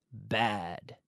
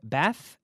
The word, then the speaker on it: bad: Malo, malo, bad, bad, bad. Fíjate la pronunciación de la D. Bad, d, d, bad. Bath, no vale. Bad, d, d. Con la lengua dentro de la boca.